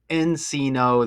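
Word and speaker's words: Encino: They're saying Gilbert Arenus has a mansion in Enino that rhymes with casino.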